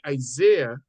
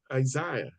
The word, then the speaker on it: Isaiah: interesting you say Isaiah the Americans say Isaiah and the English says Isaiah so it is interesting